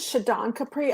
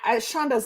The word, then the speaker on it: Shadan Kapri: So, but no, Shonda's nice too. You can call me either one.